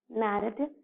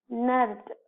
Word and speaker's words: narrative: So, we call it as narrative. No, children, we should not pronounce it as narrative. It should be pronounced as narrative.